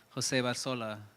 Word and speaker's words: Jose Barzola: I try to go with Jose Barzola, the original pronunciation of it.